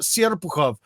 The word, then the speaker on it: Serpukhov: Unfortunately, the way it's written in English is not the way it's pronounced. But anyways, go to that. American Villages in Russia, Serpukhov.